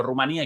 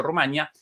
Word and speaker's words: Rumanía: El nombre de este país europeo presenta en español dos acentuaciones, ambas válidas. Por eso la diferencia entre e Juan Antonio llamándolo Rumanía y Yo Rumania, la pronunciación Rumanía a